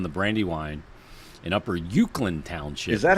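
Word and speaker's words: Uwchlan: paper mill in the Brandy Wine in Upper ukand Township is that how you pronounce thatand yes yeah okay by Downing Town and Chester Springs yeah yeah upper ukand and uh Brian says what up little uh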